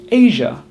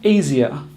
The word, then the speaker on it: Asia: In actual fact, it's just 1 syllable, ja. So we say Asia, not Asia.